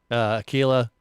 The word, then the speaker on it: Aquila: Aquila rhymes with tequila.